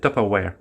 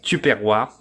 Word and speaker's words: Tupperware: Les gens vont vraiment rire parce que le vrai nom de ça, c'est Top Aware. C'est un nom anglais. OK. que je ne sais pas pourquoi. Tupperware est devenu par la prononciation en France tuperroir alors que ça s'écrit quand même t u p e r w a r e et que tu t'es